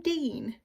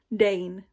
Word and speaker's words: Dane: Is his name Dean? Dane, right? Yeah, it's Dane.